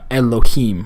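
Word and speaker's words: אֱלֹהִים: So this is going to give us a really short E sound. This is the name Elohim for God or angelic beings. Elohim, Elohim. It's a very short E.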